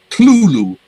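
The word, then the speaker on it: Cthulhu: all right yes yes you noticed that i said clulu two syllables okay there was a letter in night he wrote in 1934 in which he specifies the exact pronunciation of this term um you're using you know the phonetic thing you know whatever you use you know diacritical marks and you know whatever and he says it's two syllables it's not kerthul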